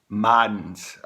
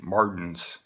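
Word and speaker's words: Marden's: haba lobster lobster lobster Madden's or Martens Martens um it's spelled ma rden apostrophe s it's it's a retail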